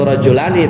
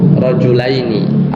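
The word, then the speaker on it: رَجُلَيْنِ: Kita bilang ro'a itu bukan ro'a itu rajulani tapi ro'a itu rajulaini.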